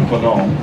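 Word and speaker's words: Faneuil: Of course, here, people say Fanon or Fanon or Fanon Hall, and, you know, they go through all kinds of stuff. But the French pronunciation is more like Fanon.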